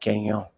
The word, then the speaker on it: Gagnon: You said my name really, really well. Oh, I thank you. No problem, man. I'm Canadian, so I know how to pronounce French.